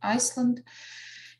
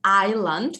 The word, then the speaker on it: island: moment this is an island we don't pronounce ireland s is not pronounced right go on the